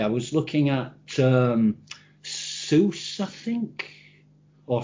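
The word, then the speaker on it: SUSE: was looking at um soos i think or sorry for any german listeners it's sousa i think they pronounce it susie but i call it suit and i was looking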